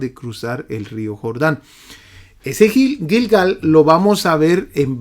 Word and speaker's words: Gilgal: lado oriental de Jericó Espero que esté pronunciando Esa esa ciudad bien gilgal es lo que creo que se pronuncia y aquellas doce piedras